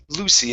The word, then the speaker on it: Lucy: Okay, this would not be Lucky. Lucky has a C and a K. Okay, so this is Lucy, a name.